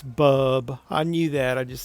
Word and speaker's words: Bub: I said Bud, it's Bub.